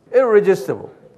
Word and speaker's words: irresistible: I가 R이 두 개예요. irresistible grace 그래요. 여기 우리 한국 사람들 발음하기가 힘들어요. R은 우리가 발음이 힘들어요. 그냥 한번 ir 할 때는요. 입천장을 안 붙이는 게 R은 irresistible.